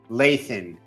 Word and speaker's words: Lathan: Thrilled, enthralled, excited to have our next guest, Lathan.